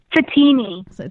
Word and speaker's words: Fatemi: Fatemi. Okay, because I'm really bad with last names. Think of like martini, but say Satini.